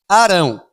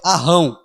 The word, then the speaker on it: Arão: puxar o r então quando tem um R só eu falo Arão se tivesse dois R eu acho que a pronúncia correta é arrão É isso mesmo então eu acho que é Arão o nome dele né Arão influenciado pelo povo